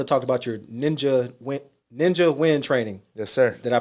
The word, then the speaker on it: Nguyen: So I want to talk about your Ninja Nguyen training. Yes, sir. Did I pronounce that right?